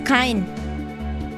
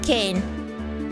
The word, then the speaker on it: Cain: It's Kine. Not Kane.